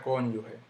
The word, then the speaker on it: cónyuge: clásico yo digo clásico la palabra cónyuge yo no digo cónyuge yo no dije cónyuge cónyuge lleva sutil el golpe que hay aquí